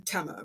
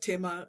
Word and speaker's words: Tema: I'm tema, right? Rhymes with Emma. That's how everyone says my name. But then everybody else is like tema.